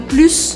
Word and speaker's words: plus: exemplo eu poderia falar Plus eu quero mais e eu pronuncio o s aqui agora tem outros dois casos onde eu falo esse S Lembrando que eu tô falando ele como uma serpente Plus os outros dois